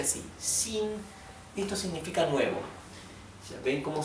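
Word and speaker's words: 新: s más suave sí por ejemplo la palabra sin que significa nuevo nuevo sí sin con el tono alto verdad no es ni Shin ni Shin es Shin a causa de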